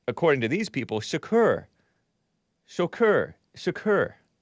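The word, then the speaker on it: Chokr: many times before so his last name is pronounced according to these people sakur Shakur like Tupac's occur Shaq a k u r even though it's spelled c-h-o-k-r I was pronouncing it choker and I was pronouncing a Hassan like our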